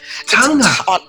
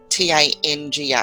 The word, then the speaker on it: Taga: But yeah, so it's like there's an N in there. So Tanga. It's a silent N. Silent N. Yeah. Taga. Yeah. Nice. It's like a soft G.